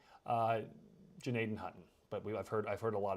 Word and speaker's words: Gnadenhutten: So I'm sure folks will have their opinions on how we should pronounce the G down there, whether or not you pronounce it or whether or not you don't.